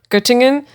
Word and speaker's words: Göttingen: How do you think I pronounce this? Göttingen. It was this University of Göttingen in Germany.